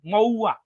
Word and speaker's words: महुआ: हाँ, मऊ नहीं नहीं, उनका राइट प्रोनाउंसिएशन है महुआ, महुआ मोइत्रा।